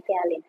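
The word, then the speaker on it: ptialin: akan menghasilkan enzim yang namanya tialin tulisannya petialin gitu ya bacanya tialin tialin ini dia akan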